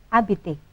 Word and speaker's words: habiter: Hati-hati, huruf H tidak dibaca, ne prononce pas jamais, ya. Jadi bahasa Prancis tidak akan pernah membaca huruf H.